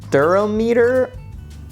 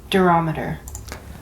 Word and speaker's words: durometer: have what we call the barometer I think I'm pronouncing that right durometer I was wrong it's durometer I like never say the